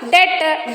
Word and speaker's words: debt: See if you observe here, debt, doubt, subtle. B comes before T there. So B is silent in that kind of words.